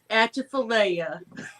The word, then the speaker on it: Atchafalaya: Atchafalaya.